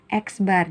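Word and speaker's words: x̄: mencari rata-rata adalah ini eksbar jadi X ada garis di atasnya disebut dibacanya eksbar atau rata-rata = Sigma X ini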